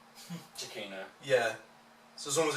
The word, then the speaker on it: Giacchino: it was Giacchino, and it turns out it's Giacchino. Giacchino. Yeah. So as long as you swap the name around. Yeah, it's reversed. Yeah, it's reversed. Yeah. Giacchino.